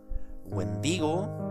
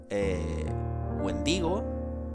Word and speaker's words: Wendigo: de el relato el wendigo mendigo siempre olvido Cuál es la pronunciación si respetamos los acentos es mendigo pero no sé por qué creo que si es wendigo entonces sin más que